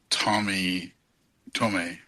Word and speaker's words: Tomi: check me on this because I feel like Tomi, right? Am I saying her name right? I think you're saying it right. I've been saying Tomi.